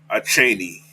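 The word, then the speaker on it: Achane: that I like right there all right Devon a Cheney that's how you pronounce his name that's how I'm gonna pronounce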